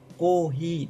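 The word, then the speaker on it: コーヒー: Kohi desu ne, mọi người lưu ý hai trường âm.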